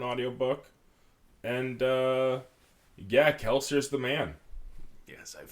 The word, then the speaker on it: Kelsier: book and uh yeah keler is the man yes I've finally gotten them audience according to uh according to other audio books it's supposed to be like kelsier because it's it's French so um and no